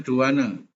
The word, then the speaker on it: douane: Sementara ya, Dovan ini biasanya kita bacanya douane.